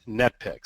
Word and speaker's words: NetPicks: And no, it's not Netflix. That's what my mom always likes to say. Oh, Mark, he works for Netflix. It's like, no. It's NetPicks.